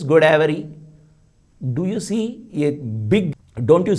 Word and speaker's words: Godavari: Even Godavari, which is a Telugu word, how do they pronounce? It is Godavari.